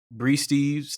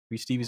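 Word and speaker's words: Bri Steves: Bree Stevens. No, it's Stevie's. Bree Stevie's is cold.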